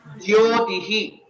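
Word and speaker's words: ज्योतिः: Jyotihi. Jyotihi. Here it is Jyotihi. It's not Jyotihi. Jyotihi. Yeah. Very good. That yakara and this Samyuktakshara is there, J, and that has to be pronounced correctly. Most of the times we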